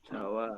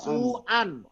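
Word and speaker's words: سُوءًا: Sawaan. Bukan. Su'an. Su. Su'an. Keburukan. Su'an. Su'an bijahalatin. Jadi bukan sawaan.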